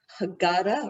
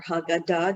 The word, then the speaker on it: Haggadah: Well, there's a Haggadah or Haggadah, depending on how you like to pronounce it.